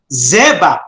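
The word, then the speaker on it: זֶבַח: The noun for zabach is zebach. Notice how I pronounce it. No? Zebach.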